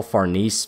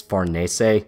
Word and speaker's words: Farnese: There's some people who call Farnese Farnese and Serpico Serpico. It's not technically wrong, but it's acting it it's adding extra steps to pretty simple names.